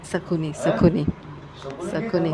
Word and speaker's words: Shakuni: ये How do you दोनों pronounce से हम it? संस्कार करते हैं। Sukhi. Shakuni. Sakuni, Sakuni.